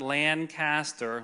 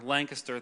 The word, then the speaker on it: Lancaster: A guy I worked with years ago, I lived up in Lancaster, Pennsylvania, not Lancaster, Lancaster, thank you.